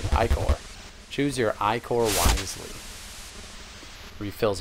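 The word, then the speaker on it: Ichor: need aid aid me ooh The Chalice that's pronounced I core all right iore choose your iore wisely refills all health and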